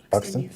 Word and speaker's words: Buxton: Buxton?